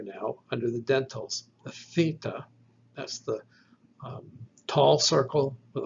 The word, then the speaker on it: theta: Theta is almost like the delta, except that it is voiceless. You do not engage the vocal cords. So theta is like the TH without the vocal cords.